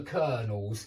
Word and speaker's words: colonel: But yeah, he even manages to save the Colonel's life. Take note that that is a very strangely spelt word. The pronunciation is Colonel. Colonel. Nothing like colonel, whatever it's spelt like.